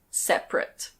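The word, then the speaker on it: separate: Here we have the adjective "sep-a-rate". Sep-a-rate. It's normally pronounced "sep-rate".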